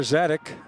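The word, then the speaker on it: Sadzeck: So Connor Zadek, pronounced Zadek, is spelled S-A-D-Z-E-C-K.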